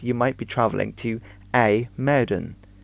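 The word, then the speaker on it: IJmuiden: front of a motor is the IJ which makes an a a sound in Dutch it doesn't make an edge which often confuses people now another big city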